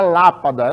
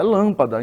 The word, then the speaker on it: lâmpada: a palavra lâmpada a mesma forma ninguém fala Lapada lâmpada Então se tem acento circunflexo já matemática não